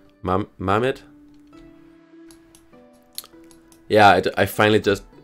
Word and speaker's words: Mehmet: Hope I somehow found a way to pronounce that right. Mehmet? Yeah, I finally just... Mehmet, you have to scroll back and watch that landing.